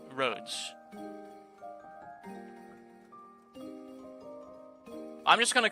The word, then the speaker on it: Rhodes Island: Oh, it actually is pronounced with the S. Rhodes. I'm just gonna call it Rhode Island because I'm an American and that's what my tongue is literally used to.